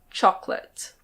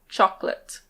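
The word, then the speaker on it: chocolate: We basically always say "choc-late". Choc-late. That's the British pronunciation. In American English the first O is pronounced a little differently. It's "choc-late". Choc-late. British English: choc-late. Choco-late.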